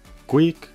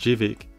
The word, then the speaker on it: Gweike: Gweike. After watching some of their company videos, I think it's pronounced Gweike.